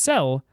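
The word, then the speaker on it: Céu: Her name is pronounced Cel, and it means sky.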